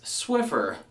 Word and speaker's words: Swiffer: cloths that you sweep your floor with it's Swiffer there is nor has there ever been a